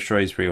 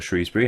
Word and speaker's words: Shrewsbury: four points clear of shury or Shrewsbury however you want to pronounce them it's not now about